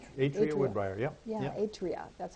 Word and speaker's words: Atria: Atria. That's how they That's it, pronounce it.